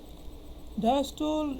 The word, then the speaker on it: diastole: তো যাই হোক, তা আমরা কী বলছিলাম, এখানে একটা বিষয় আছে ডায়াস্টোল অ্যান্ড সিস্টোল। কোনো বই উচ্চারণ দেয় ডায়াস্টোলি এবং সিস্টোলি, কোনো লেখকের উচ্চারণে পেলাম।